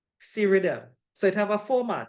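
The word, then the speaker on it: SREDIM: a acronym for it it's called serm well so so people pronounce it right s r e d i m serm so it have a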